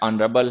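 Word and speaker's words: honourable: Honest है, आवर है, एयर है, ऑनररी है, ऑनरेबल है, इनके साथ में एन का यूज क्या करो, क्योंकि एच इन में साइलेंट होता है, ठीक है।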